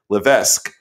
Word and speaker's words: Levesque: right you'll let me know in a minute Levesque she is she's nodding so I got it